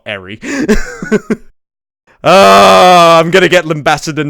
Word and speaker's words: Eri: Also, it just occurs to me I've been calling that woman Ellie and not Eri.